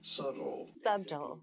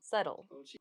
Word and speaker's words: subtle: about pronouncing it like the b is silent so ignore the b the americans would say it as subtle subtle i guess you could